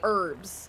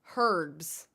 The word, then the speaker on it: herbs: Oh, don't you guys Oh, you say um we usually say herbs and don't you all you say herbs, water? I say water, but water is one that there's a lot of different pron pronunciations. People say water. Uh maybe it's maybe there's not that many, but I say water. There is an H, but to us it's silent.